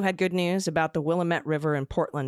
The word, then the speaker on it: Willamette: Evan, I hope I can remember that because it looks like it should be Willamette, but it's Willamette, damn it.